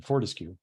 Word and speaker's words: Fortescue: So Savannah Rice from Fortescue. Sorry, let me get my camera on here. Well, thanks for, by the way, correcting my pronunciation, Fortescue.